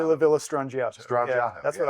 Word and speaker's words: La Villa Strangiato: there's always this huge debate on how to pronounce it. La Villa Strangiato? How do you say it? I say La Villa Strangiato.